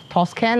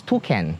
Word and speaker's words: toucan: I know in the bird park vlog, I pronounce it wrongly. I said it's Toscan or something like that. No, it's Toucan.